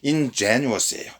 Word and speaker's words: ingenuous: 여기 지금 CF 부분에 제가 소개를 드려놨는데 자, 이건 발음이 ingenuous예요. ingenuous.